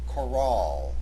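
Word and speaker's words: Chorale: r a l it has an e at its end therefore the proper pronunciation of this word has the accent on the second syllable Coral this kind of composition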